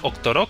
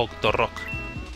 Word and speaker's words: Octorok: Se dice Octorok, pero pronunciado Octorok o Octorok. Con R fuerte.